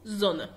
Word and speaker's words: Sonne: لو حد سمع زي حرف الز هي بتقرا اس زي ما انت سمعت في الاول، لكن انا بقراها هنا في الاسم الشمس بقول زونا.